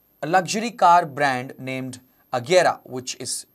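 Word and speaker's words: Agera: my mind is a luxury car brand named aguera which is spelled as a g e r a which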